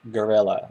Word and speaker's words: guerrilla: latin expression over here people pronounce it gorilla like um like the animal almost so exactly i was